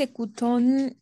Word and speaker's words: écoutent: Ils écoutent quelquefois de la musique. Très bien, très bien. Sauf pour aquí, ils écoutent. Écoutent. ENT, on ne prononce jamais. On ne prononce jamais ENT à la fin.